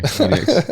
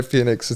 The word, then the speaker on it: Penix: lit it up penx sorry penix I used to say Phoenix too Phenix it sounds I mean it's spelled like that yeah yeah but someone